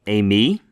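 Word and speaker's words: εἰμί: Say with me, eimi.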